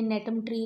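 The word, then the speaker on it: Gnetum: बहुत अच्छे एग्जांपल यह नेट मंत्री दिखाया हुआ है हैं इनके वूल जो है वह नेट होते हैं कि यह नैटम ट्री के लिए सोर्सेस दिखाते हुए हैं NET में जी साइलेंट होता है हुआ था इस नेटवर्क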